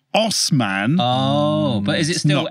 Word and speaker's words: Assman: Anyway, from these dubious claims to ass man. So David Assman. Oh, sorry, pronounced Osman.